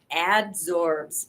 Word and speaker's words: adsorb: Carbon adsorbs oxygen. Adsorb. ADSORB. Everybody thinks we say it wrong. That's why I like telling everybody. Keeps it away. Right. Instead of absorb. Carbon pushes the oxygen away.